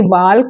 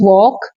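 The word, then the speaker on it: walk: WAL के वाल्क नहीं होता, इट्स वॉक।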